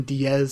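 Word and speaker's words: Diez: Um, and then Drake is written out as X Drake, but the X has the pronunciation Diaz above it.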